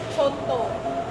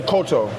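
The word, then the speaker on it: coto: Yeah, so it's spelled C-O-T-O, but it's pronounced C-H-O-T-O. In America, we just say koto. But if you say this word, you have to put the H on it like choto.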